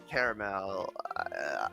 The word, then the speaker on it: caramel: yeah you're a caramel it is not caramel there is an A in there and unlike a lot of other words that would be really weird to pronounce it silently I I think it's